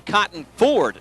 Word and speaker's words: Cotton Ford: the stripe understand that we've actually been mispronouncing the name of the stadium in his t a cotton ford stadium t a cotton for cotton the nickname of mr. Ford first and ten for